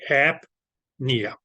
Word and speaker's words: apnea: Okay, so that's how it's okay the pronunciation goes. Okay, so it's going to be apnea.